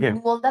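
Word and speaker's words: Nuwanda: C'est c'est nous alors tir du bas nuanda. Du bas. OK. Nanda ça s'écrit n u w a n d a. C'est comme ça se prononce.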